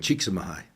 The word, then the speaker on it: Csikszentmihalyi: If you look at I can't pronounce the Hungarian professor's last name. Csikszentmihalyi.